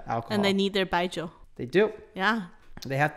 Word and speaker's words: 白酒: ration yeah so the next is strong Aroma baijo which is a very good Cherry good pronunciation so this is the most popular by